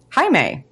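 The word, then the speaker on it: Jaime: out in episode 6 the Spanish pronunciation of my name hi May although it is not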